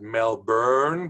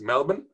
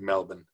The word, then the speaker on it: Melbourne: Some Americans pronounce it Melbourne, but actually it's Melbourne. No R, pronounced Melbourne.